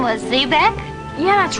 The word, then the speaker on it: xebec: And Zebek is actually spelled with an X, but people thought it'd be Exhibit. So we spelled it like it sounds with an Z?